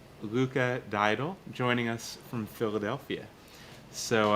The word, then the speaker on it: Luca Diadul: please say your name I don't want to mispronounce it yes it's uh Luca daal Luca daal joining us from Philadelphia so uh you guys